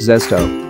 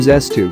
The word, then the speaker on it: Zest-O: in French, and then he added an O to make the sound more rounded. It was meant to be pronounced Zest-O, but for Filipinos it became Zest-O.